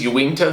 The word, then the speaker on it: Uinta: just got a pair of these uh unshoes ewingto sandal and i know that's how you pronounce it i saw someone from unshoes say